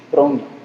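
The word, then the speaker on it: πρόνοια: Aqui, se você conhece o grego, tem um O, né? Mas a pronúncia mais correta seria provavelmente pronia.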